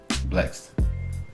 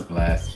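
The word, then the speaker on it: Blxst: Say his name again. Blex. Blast. I know it's Blast, but it's Flex. He pronounced the X.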